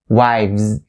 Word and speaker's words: wives: should keep in mind the first point is upon the v sound just right after the word y and then z wives wives so make sure you have the v style right there by having the